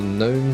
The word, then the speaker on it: gnome: And that was that the gnome Silent G was proudly presented on the front of one of those teams.